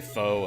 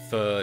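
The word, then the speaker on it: pho: Some people say foe. Apparently, it's pronounced fu.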